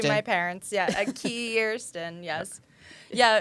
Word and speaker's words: KIIRSTIN: Yeah, a KIIRSTIN, yes. Yeah, it's funny to me when people say Kristen because I'm like, there's two I's.